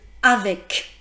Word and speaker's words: avec: Par exemple, le C de avec ou le C de donc.